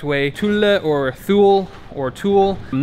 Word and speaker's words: Thule: correct Way Chula or Thule or tool I'm not exactly sure how to pronounce it but from my Swedish friend he said you pronounce it Tula so hopefully that is